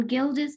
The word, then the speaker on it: Gilda: How do you spell it? GILDA. That's Gilda. It's named after a lady